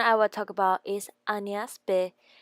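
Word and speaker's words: Agnès b.: Next brand I will talk about is Agnes B. It will be more elegant if you say Agnes B than Agnes B.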